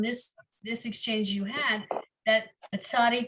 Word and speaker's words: Tsadi: I am learning now from this exchange you had that Tsadi doesn't always sound like TZ. Apparently in modern Hebrew, it can also sound like more of a CH sound.